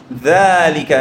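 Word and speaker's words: ذلك: Note, যালিকা is pronounced যালিকা, এই যে extra আলিফ দিয়ে, যেটা একটু আগে বললাম। তবে লেখার সময় এইভাবে আসবে না।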